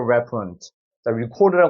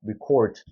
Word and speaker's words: record: 나는 거예요 약한 이발음 그래서 뒤에를 힘 줘서 읽어야 되는 건 rec 이렇게 발음이 되는 거죠 rec 기록하다 할 때는 rec 발음을 하는 겁니다 자 문장을 읽어 보겠습니다 Please